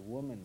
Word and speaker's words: Woolman: sounded like you said Woman Rink. This time we got Yeah, it did. Yeah. Where you stood. It's spelled that way. Right. Spelled that way, but it's pronounced woman.